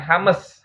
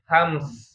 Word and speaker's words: hams: Bacanya bukan hames ya, tapi hams ya. Hams bukan hames ya.